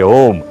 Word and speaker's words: ओम: के उच्चारण के समय अ मात्रा उ मात्रा में उ मात्रा म मात्रा में विलीन और म मात्रा निशब्द में विलीन हो जाती है उसी प्रकार उपासना